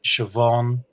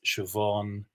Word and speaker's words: Siobhan: And some words just get really famous, like the names Siobhan and Niamh. They have BH, MH, they sound like V.